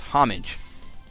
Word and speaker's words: homage: went online and it's actually supposed to be pronounced homage but I could swear that everybody says homage I'm just going to say it's a tribute